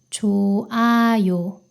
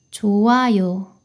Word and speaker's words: 좋아요: 히읗 받침은 모음으로 시작하는 단어를 만나면 소리가 사라져요. 이 단어에서 히읗 소리가 사라져서 이렇게 발음됩니다. 좋아요. 좋아요.